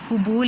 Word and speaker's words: قبول: کاف پیش کو، با پیش و بو، قبول، لام ساکن قبول۔ आ गया वाहिद जमा, तो जंगल की जमा क्या होगी, जंगलों, ठीक है।